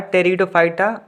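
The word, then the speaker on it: Pteridophyta: में लिखते happy टेरिडोफाइटा यह पीस साइलेंट होता है टेरिडोफाइटा पड़ते हैं टेरिडोफाइटा तीसरा आपका क्या हुआ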